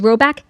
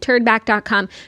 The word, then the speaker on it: Rhoback: The colors are unreal, the vibe is immaculate, and if you haven't peeped the new Rhoback yet, this is your sign.